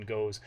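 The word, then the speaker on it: gose: I think it's goze. I heard some people say goze. I looked it up once. I spent like a half hour once on YouTube watching people pronounce it, and I've settled on goze.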